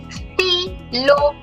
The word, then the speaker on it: stylo: Stylo. Stylo. Oui. Stilo. A pen. Oui. Oui, oui. T is pronounced stilo.